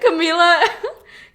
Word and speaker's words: Camila: But we're Camila Cabello. No, we're not, and that's not even how you pronounce it. Camila.